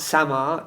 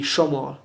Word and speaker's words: Samar: So if you see something spelled like Samar, it's not Samar, it'll be Shomor, the pronunciation.